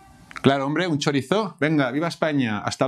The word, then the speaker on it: chorizo: web sobre show no chavales esto se dice chorizo claro hombre un chorizo venga a viva españa' hasta luego hola chavales